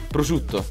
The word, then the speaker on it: prosciutto: to be super cute alright so how you pronounce it perfect Oh in Italian so yeah say it correctly now prosciutto yeah so I have to say that you